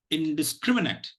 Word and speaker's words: indiscriminate: syllable between the primary and the secondary stress syllable okay so in discriminate indiscriminate obviously you'll have a lot of questions